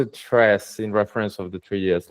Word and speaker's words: Tres: It's a wrapper of 3DS at the end and it's pronounced tress in reference of the 3DS library.